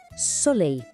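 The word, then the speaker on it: soleil: Esse som final, ei soa como o nosso ei. Vamos lá. Solei, o sol.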